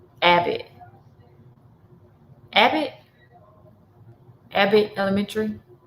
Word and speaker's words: Abbott: It's pronounced Abbott. Abbott.